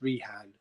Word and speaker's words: Rehan: with John Cena and please say my name right in the video it's Rehan um the wall